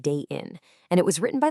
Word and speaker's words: 대인: The second character is this one pronounced in and it simply means person or people. So you put them together day in and you get the beautifully direct title waiting for a person.